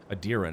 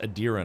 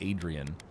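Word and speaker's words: Aedyran: Adiran. It's It's pronounced Adiran. I keep calling it Adrien.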